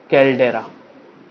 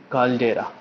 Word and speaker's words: कैल्डेरा: तो ये जो बन जाता है इसको हम लोग बोलते हैं कैल्डेरा, कैल्डेरा।